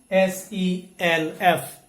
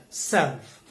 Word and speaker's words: self: in the last one s-e-l-f it is pronounced as self so self even if you don't hear the pronunciation of letter l it is mildly pronounced okay now in this